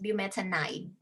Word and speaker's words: bumetanide: But this one is pronounced as bumetanide. Wow. Ide, not in, okay?